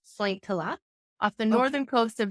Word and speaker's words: Sointula: Yes, I grew up in a very small Finnish fishing village called Sointula, pronounced Sointila, off the northern coast of Vancouver Island.